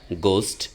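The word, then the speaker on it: ghost: ঠিক একই রকমভাবে ইংরেজি উচ্চারণের সময় যদি এইচ সাইলেন্ট থাকে এরকম কিছু শব্দের উদাহরণ আমরা দিয়ে দিচ্ছি। যেমন গোস্ট এখানে এইস থাকা শর্ত তার উচ্চারিত হয় নাই।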